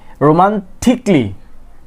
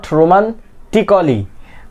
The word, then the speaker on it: romantically: A will be silent, then it will pronounce romantically, not romantically.